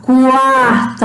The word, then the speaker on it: quarto: Por exemplo, se fosse a palavra quarto, a gente fala o Q, o U, o A, quarto.